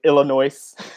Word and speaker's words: Illinois: The S is silent in Illinois.